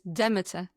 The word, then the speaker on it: Demeter: definitely recognize his impact as the CEO of Demeter. Yes, the pronunciation is Demeter Fragrance Library.